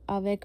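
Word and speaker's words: avec: सी आपको पता है सी हम प्रोनाउंस करते हैं तो हम अब आवेक में सी को प्रोनाउंस करेंगे।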